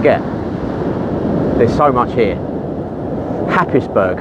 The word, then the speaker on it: Happisburgh: there's so much here happisburg h a double p i s v u r g pronounced unbelievably hazebra only in britain honestly